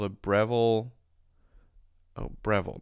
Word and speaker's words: Breville: It's called a Breville. Oh, Breville, not Bevel. Breville. Is this how you spell it?